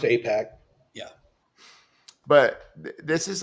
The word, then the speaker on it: AIPAC: Yeah, it's still pronounced AIPAC.